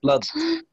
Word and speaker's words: blood: say this word blood blood yes blood they are the same sound flood blood flood blood okay it's the same the same vowel flood blood flood blood